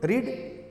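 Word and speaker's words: read: हाँ, तो आपको यू शुड रीड, आपको पढ़ना चाहिए था। तो रीड का 3rd फॉर्म भी रीड ही होता है, लेकिन पढ़ते हैं उसको रेड।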